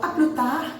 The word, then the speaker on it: à plus tard: A gente não pronuncia essa letra D do tar, né? Então, à plus tard é até mais tarde. Plus é mais, né? Então, até mais tarde. À plus tard. E a letra D no final não é pronunciada, tá?